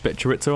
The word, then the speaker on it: chorizo: Bit of chorizo on that? Bit of chorizo? Hey, that's how it's pronounced.